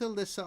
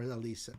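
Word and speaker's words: Alissa: Their 11th third with Alyssa on vocals or Alisa Alisa.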